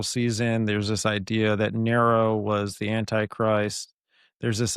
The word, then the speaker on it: Nero: So with I know you mentioned Neuro. Am I pronouncing that right, by the way? Nero. Nero. Okay.